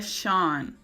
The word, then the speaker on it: Sean: O nome dele é Sean, tá? S-E-A-N, né? A gente fala como se a palavra ocean, né? Oceano, Sean, é essa pronúncia.